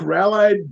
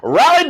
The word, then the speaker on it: Raleigh: i got journalists so are you saying like rallied durham isn't balanced what is the name of that city i don't know i said it wrong raleigh durham yeah that's actually two different cities much